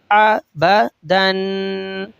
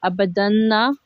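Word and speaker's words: أبدًا: Do you pronounce it and say abadanna? Abadan. Abadan. Hamza fatah A, Ba fatah Ba. Aba, Dal double fatah Dan. Abadan. So the last alif is a silent letter? They're silent letter.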